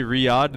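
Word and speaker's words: Riyadh: Riad, that's how you say it.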